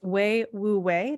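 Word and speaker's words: wei wu wei: the book called I maybe maybe I'm mispronouncing this but it's way woo way w-e-i-w-u-w-e-i which is to like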